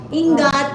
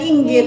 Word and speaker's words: ingat: Hindi niya talaga-pronounce ang ngat. Alam niya ingat. Ingat no nga na nga na.